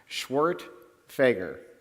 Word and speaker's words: Schwerdtfeger: who might be curious it's pronounced swart Fager it's come on in